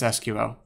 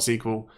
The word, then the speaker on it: SQL: and also ace its SQL I mean I know that some people call it sequel but that's just stupid I've been organizing the